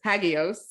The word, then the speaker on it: Hagios: educator and you recently launched I hope I pronounced it right the hagios hagios yeah study nailed it yeah and it was